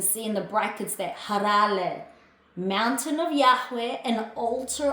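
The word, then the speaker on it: הראל: To pronounce in Hebrew, it's actually pronounced harale. You can see in the brackets there, harale.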